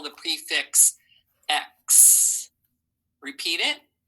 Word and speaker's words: ex: It sounds like you're saying the word X, right? Like the letter, but it is X, E-X. I hear X. And remember, that sounds like almost like KS together, but there is no S there.